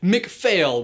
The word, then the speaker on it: MacPhail: And for clarity, that is MacPhail with a silent PH. And an invisible F.